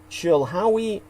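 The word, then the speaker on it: Chilhowie: Lan's family is in Chila Virginia which is spelled c h i l h o w e which of course Peter Moon would see a Howard in that as in hoe Chila Virginia she's going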